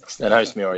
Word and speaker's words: Stenhousemuir: Get that Stenhousemuir, yeah, not bad.